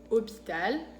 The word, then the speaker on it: hôpital: Después, la H es muda en francés, no se pronuncia.